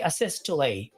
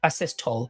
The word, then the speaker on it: asystole: I know what I hear some people say asystole. I also hear some people saying that asystole. So whatever is your pronunciation, you have the liberty. Okay, so you can say asystole or asystole, but point here is do not defibrillate.